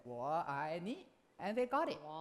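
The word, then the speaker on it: 我爱你: In Chinese we say wo ai ni. People say wall eye knee, right?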